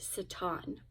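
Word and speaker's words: שָׂטָן: to Satan or actually in um the original language Hebrew that is pronounced Satan and we're going to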